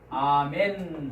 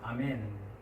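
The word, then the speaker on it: אָמֵן: 그런데 히브리어로 가면 우리가 히브리어는 아직 공부를 하지 않았습니다만 발음은 똑같습니다. 아멘 하고 발음합니다. 아멘.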